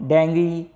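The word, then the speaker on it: dengue: एज a carrier of डेंगू। अब देखिए एक और फीवर होता है डेंगू फीवर, का नाम सुना होगा आपने, डेंगू भी बोलते हैं और डेंगी, ठीक है, मैं इसका प्रोनाउंसिएशन डेंगी कर रहा हूँ, ठीक है।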